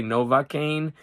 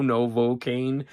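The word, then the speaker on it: Novocaine: Now, that's a word that I always want to say, Novakane. And it's it's hard to remember that that's an o Novocaane, novocaane.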